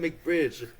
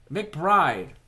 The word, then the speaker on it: McBride: Said McBridge. Bridge has a G in it. Where do you see a G in his name, bro? Okay. K McBride pronounce his name. McBride. McBride.